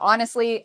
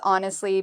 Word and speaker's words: honestly: So honestly, I think Chinese food is delicious. How do we pronounce this? Well, we pronounce honestly by putting the stress on the first syllable.